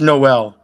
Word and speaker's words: Noe: That's Noel. She just dropped the L off.